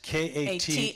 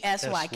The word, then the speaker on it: Katsy: And that's Katsy. Katsy. Katsy rhymes with Fatsy.